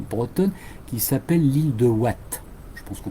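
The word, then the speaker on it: Houat: une petite île bretonne qui s'appelle l'île de Watt. Je pense qu'on prononce Watt. L'île de Watt, ça s'écrit H-O-U-A-T.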